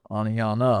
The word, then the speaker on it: Oneonta: The T is silent in Oneonta. Oneonta.